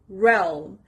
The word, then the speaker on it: realm: first word is realm realm the stress is on the first part realm it means a